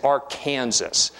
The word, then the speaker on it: Arkansas: through the state and notice I am pronouncing this word as AR Kanas now I recognize in this audience there are going to be some individuals who favor that other Arkansas pronunciation but when you do that remember that Arkansas pronunciation that is pronunciation by legisla of edict in other words